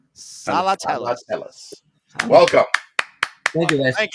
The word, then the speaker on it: Salatellis: Okay, I'm not gonna spell it. I'm just gonna say it. Salatellis. Salatellis.